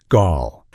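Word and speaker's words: Gaahl: One of the most famous and intimidating figures from this scene is a singer who goes by the name Gal, pronounced Gaul.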